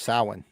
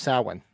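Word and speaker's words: Samhain: the the cardinal sin he pronounces it completely incorrectly absolutely wrong it's sowin and those that have read the the novelization of Halloween one will know that the reason Michael is the way he is is because of that because he pronounced it wrong yeah it's not it's it's Celtic it's it's pronounced Saline what is that guy's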